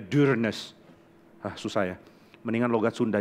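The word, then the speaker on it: Dyrness: Saya baru tahu panggilnya Dearness, bukan Dearness. Karena ternyata ini katanya nama Norwegia. Di mana tulisannya harusnya D-U-R-N-E-S-S. U yang ada tanda di atasnya. Jadi bacanya Dearness.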